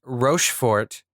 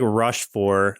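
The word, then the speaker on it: Rochefort: The character of Count Rofort. Is that how you pronounce it? I think it was like Rushfor. Like they didn't pronounce a T at the end.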